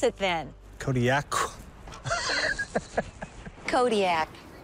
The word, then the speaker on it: Kodiaq: In the Aleutic language, the Qs are more come from, like, your throat than a normal K does. How would we pronounce it, then? Kodiaq.